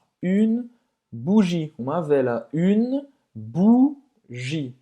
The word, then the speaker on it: bougie: Esse é o som do U em francês e como a letra U em português. U, bougie. E você não vai pronunciar esse E no final.